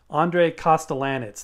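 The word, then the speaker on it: André Kostelanetz: That's pronounced Costelanetz. Andre Costelanetz.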